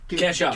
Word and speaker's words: Kesha: Kesha.